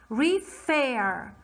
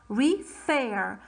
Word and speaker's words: refer: second syllable is stressed i'm saying gree fair i'm stressing on the other syllable refer refer so when i have a